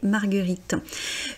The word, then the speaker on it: marguerites: La marguerite, les marguerites. Alors là, on revient quelque chose dont on avait parlé. On ne dit pas le S final, on dit bien les marguerites.